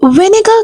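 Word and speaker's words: vinegar: सिरका को इंग्लिश में विनेगर कहते हैं okay are will be silent year you will have to give are sound of as right the word will be विनेगर प्रशन will be विनेगर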